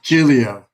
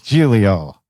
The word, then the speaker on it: Giglio: of Jack and Jill Julio and Italian it's two syllables but in uh American we I'll give you three Julia it's easier please welcome please welcome Julio I like the proper